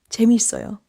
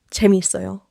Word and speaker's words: 재미있어요: 한 단어처럼 재미있어요라고 말해 보세요. 따로따로 끊어 말하지 마세요. 재밌어요.